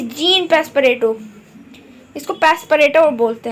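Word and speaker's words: Passepartout: मैन my name इ gene पस Pareto इसको पस परेटो बोलते हैं पपो पपो प्रोनाउंस एट जोन पस पर्टो सो ठीक है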